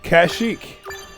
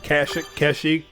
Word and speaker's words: Kashyyyk: it will be difficult kashyyyk keshi whatever part of the universe you're from i guess it'll determine uh how you pronounce it i'm from the outer rim so we call it cash nah um the trees one